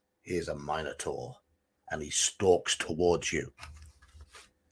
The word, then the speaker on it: Minotaur: So we're going to fight a Minotaur. Note the pronunciation, Americans. Minotaur or Minotaur.